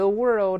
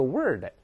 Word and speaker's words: world: The world over. 注意不要读 the word， the word 是单词了， the